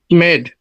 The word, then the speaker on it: made: MADE, Made. not made, made. Made. ওকে, আপনি যেটা উচ্চারণ করতেছেন MAD হয়ে যাচ্ছে, মেড।